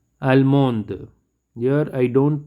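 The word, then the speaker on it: allemande: male 7 is almo almond here i don't pronounce the d and here i pronounce the d almo almond japan the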